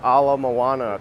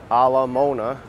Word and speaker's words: Ala Moana: many caves at least I pronounce Ala Moana correctly and not a la Mona janara says you're in